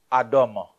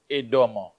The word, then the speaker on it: Édom: En hébreu, on dit Adam. Ou en français, nous disons Édom.